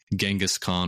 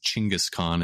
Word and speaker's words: Genghis Khan: about today and that's the famous genghiskhan or better known as chingas Khan if you want to get into the Mongolian pronunciation and you know I